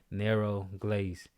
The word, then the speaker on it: Nero Glace: Nero Glace.